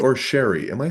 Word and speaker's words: Cherie: say they say Sherry, but it's spelled Cherie, so that's why I do It's it that way.